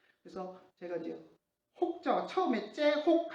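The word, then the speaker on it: צחוק: 좀 굵은 글씨로 해놨는데 이 발음은 조금 신경 써야 됩니다. 그러니까 혹 이렇게 발음할 게 아니라 그냥 우리의 히읗이 아니라 이렇게 뭐랄까 목에서 가래 끓는 하는 발음을 해야 됩니다. 그래서 째혹입니다. 그 째혹이 아니고 째혹이라고 발음해야 되고요. 좀 가래 끓는 소리가 나야 됩니다.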